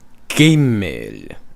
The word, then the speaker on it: gimel: G, g, gimel.